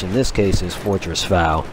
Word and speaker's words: Fao: this case is Fortress Fao, which Fao is just another pronunciation for fall from the Al-Fal Peninsula, which is, I'm sure, where the developers got it.